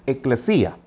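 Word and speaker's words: ἐκκλησία: Les recuerdo que la palabra iglesia viene de una palabra que en griego se pronuncia eclesía.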